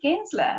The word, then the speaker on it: Gensler: really excited to welcome our next guest Kinsler am i pronouncing that correctly oh that's right welcome